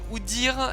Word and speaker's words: Udyr: Ouais, comme il faudrait ajouter un tréma à Udyr pour le prononcer Udyr et pas Oudir quoi.